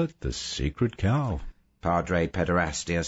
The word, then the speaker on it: Chao: camping at all sacred cow simon asked it's pronounced that way but you spell it c-h-a-o a cow is a